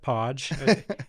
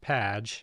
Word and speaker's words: Padge: thanks for pronouncing it Podge it's spelled p a d g but often gets pronounced page uh and that's that's